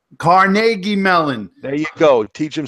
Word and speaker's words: Carnegie Mellon: You have to pronounce it's Carnegie Mellon. Carnegie Mellon.